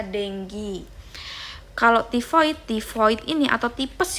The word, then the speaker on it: dengue: Nah, tulisannya dengue, bacanya dengue.